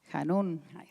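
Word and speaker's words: חנון: Y en hebreo hay una palabra que es lleno de gracia y se pronuncia han. Hanún que es lleno de gracia.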